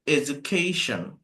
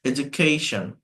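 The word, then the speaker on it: education: করি এর উচ্চারণটা হচ্ছে এডুকেশন এডুকেশন এই ক এর উপরে একটা চাপ দিতে হবে স্ট্রেস আছে তাই একটু জোরে বলতে হবে এডুকেশন তো এই এডুকেশনকে এডুকেশন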